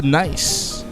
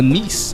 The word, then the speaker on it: Nice: We got Ibiza to Nice. To Nice, I should say. That's how I pronounce it.